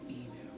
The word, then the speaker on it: Inu: My name is Inu.